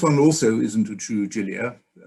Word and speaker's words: Gilia: And it's polite when botanizing somebody's name to pronounce it in the way that he would pronounce it.